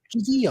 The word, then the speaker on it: Gigi: Is it Giggy or Giggy? Or how do you pronounce Gigi. it? It's really Giggy. It's a fairly simple one. Giggy, is it? Yeah, just Gigi. Just Gigi.